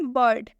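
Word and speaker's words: bird: क्या लिखा हुआ है बर्ड क्या लिखा है बर्ड बर्ड में आई और आई के बाद से क्या आ हुआ है आर तो इस आई का उच्चारण क्या हो जाएगा अ से हो जाएगा यानी कि ब आधा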